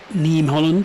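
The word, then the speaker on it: Niamh Holland: Neem Holland, sorry. Neem Holland. I'm learning these pronunciations from you as I go along here, guys. You better get it right. Good Irish name, Neem.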